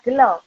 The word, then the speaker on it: gelo: Gegelan ataupun kegelan berasal dari kata gelo yang dalam bahasa yang dalam bahasa Jawa dibaca gelo atau kecewa. Berarti gelo ya, bukan gelo.